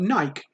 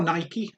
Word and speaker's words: Nike: 39 and we've got nike or nike depends how you want to say it nike like the uh sports brand in the uk we usually call it nike i think in the